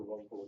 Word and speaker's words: caruncle: The caruncle is the preferred pronunciation.